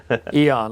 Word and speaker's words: Eoin: Eoin. I like Eoin because it's like spacey. Yeah. But I think my dad many years ago thought it was Ewan.